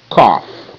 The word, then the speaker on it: cough: Okay, GH can also make the F sound. GH making the F sound. F, F, F. Cough.